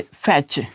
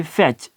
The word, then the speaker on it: fetch: इसी तरीके से कि जब हम कह सकते हैं कि फैच, FETCH, अब ये फैच, अब फिर इसके बाद फैच के अंदर भी टी के बाद CH आया हुआ है तो हम इसको प्रोनाउंस नहीं करेंगे।